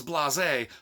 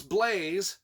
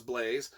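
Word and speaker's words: Blaise: not blaze but it's blase then i don't know what the is going on in this universe but thank god it was blaze and the narrator pronounced it as blaze so i was like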